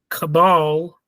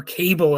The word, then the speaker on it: Cabal: The film is based on Barker's 1988 novel Cabal, or Cable as I've pronounced it in the past, and it revolves around a group of monstrous creatures known as the Nightbreed.